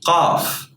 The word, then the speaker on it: قاف: This letter is called qaf. Qaf. But in words, as I told you, it's pronounced like a glottal stop.